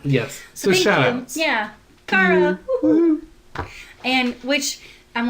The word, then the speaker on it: Cara: listeners yes uh her name I think is pronounced Cara C A R A yes so I'm going